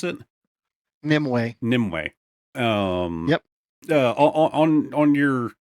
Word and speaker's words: Nimue: How do you pronounce it? Nimue.